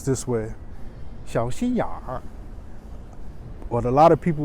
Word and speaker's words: 小心眼儿: Beijing people also will pronounce this way. 小心眼儿.